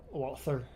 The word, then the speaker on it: Walther: like this is the cheapest Walter Walter or yeah like like the H is just like a jump scaring me